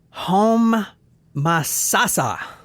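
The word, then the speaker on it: Homosassa: hard time with that home like home Ma like get in the kitchen ma make me some pancakes and then Sasa like sassa whatever that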